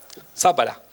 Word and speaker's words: Zápara: Eh, este es Lenin, es de la acá me tienen que ayudar con la pronunciación, es de la nación Zapara, se dice Zápara.